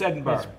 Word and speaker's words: Edinburgh: We're going to Edinburgh. Edinburgh. Not borough, borough. Borough. And not Berg, because it's spelled Edinburgh. Yeah, but it's Edinburgh.